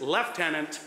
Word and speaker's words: lieutenant: Additionally, as English has changed dramatically over time, the letters V and U sounded the same, likely leading to the present-day lieutenant.